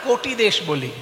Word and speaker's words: কটি: আমরা তো বাঙালি, ক লিখলে ওকার উচ্চারণ করি, ওকার লিখলে ওকার উচ্চারণ করি। তাই কটি তো আমরা বলি না, কোটি দেশ বলি, মানে কোমর।